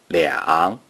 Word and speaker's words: 两: The number two is pronounced 两.